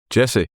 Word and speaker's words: Jesse: You may have noticed I knocked the I and D off his first name because apparently that's the correct pronunciation. Jesse.